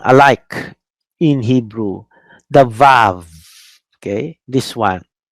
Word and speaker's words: vav: This is vav. German pronunciation. English American, they say wow. You know? English American, they will say wow. That's the Arabic is wa. Uh, but uh, here in our class, based on the German tradition, we pronounce this as vav. So it will really sound like bet without the dot.